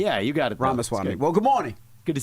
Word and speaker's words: Ramaswamy: Yeah, it's like Ramaswamy, like CD-ROM, but yeah. Well, I said Ramaswamy. Yeah, you got it. Ramaswamy.